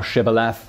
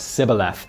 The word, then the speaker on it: Shibboleth: If he said nay, then they said unto him, "Say now Shibboleth," and he said Sibboleth, for he could not frame to pronounce it right.